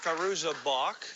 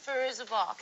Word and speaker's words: Fairuza Balk: Am I uh I'm pronouncing it right? Fuzza Balk. Fuzza Balk.